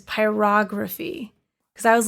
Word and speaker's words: pyrography: I've I've learned it's it's like pronouncing photography is pyrography because I was like pyrograph they like no it's yeah pyrography it's like no it's pyrography and he asked if